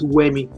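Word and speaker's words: Wemi: I called you I said my name is uemi if you can't produce me more if you can't pronounce w e m i it's simple stop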